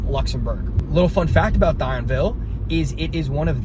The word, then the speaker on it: Thionville: It needs to come quickly, but it is going to be Thionville, or maybe how you pronounce it in French, Thionville.